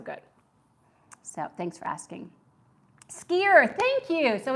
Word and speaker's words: skyr: So it is skier. I wasn't sure if it was skier or skyer, because being a phonics teacher, I know that Y can either be an I or a long E, a long I or long E.